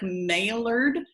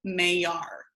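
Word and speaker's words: Maillard: May our reaction I know it looks like maelard but it's a Frenchman's last name the French chemists last name and you pronounce it may R so the main our reaction I want you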